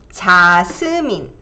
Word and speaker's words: 자스민: That'll be 자스민. 자, so that's 자, 스, 민. 자스민. So this two sound. 자, 자, 자.